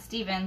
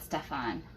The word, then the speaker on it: Stefan: have one um stefan stefan right not steven but stefan your name confuses me